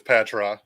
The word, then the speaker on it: Patraw: It's Patraw.